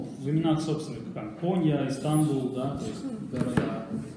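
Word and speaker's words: İstanbul: Вот, кстати, они говорят Истанбул, хотя мы говорим Истанбул. Точнее, мы говорим Стамбул, да, они говорят Истанбул. Потому что они скопление согласных в начале слова не могут произвести.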